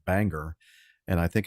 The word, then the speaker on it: Bangor: It says it's pronounced Bangor.